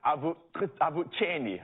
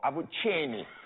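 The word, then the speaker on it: Avuxeni: I believe it is Avucheni or Avucheni. So it's really like that the X is pronounced without the K. It's like a ch.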